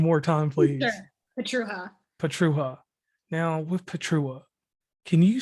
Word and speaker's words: Pietrucha: c h a and the c is silent because it's a polish last name and when it's taken